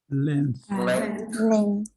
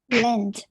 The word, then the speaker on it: length: About who can pronounce this correctly? Length.